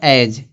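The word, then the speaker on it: edge: फिर यहाँ दिया एज, एज दिया है ना, तो अब यहाँ पे जी दिया, जी से पहले क्या आया, डी आया, तो डी क्या हो जाएगा, साइलेंट हो जाएगा।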